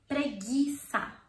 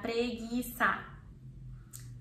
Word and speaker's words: preguiça: So, for example, you have the word here, preguiça.